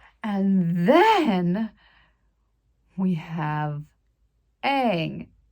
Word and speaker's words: Aang: And then we have Aang. It's spelled A-A-N-G. How would you pronounce that besides Aang?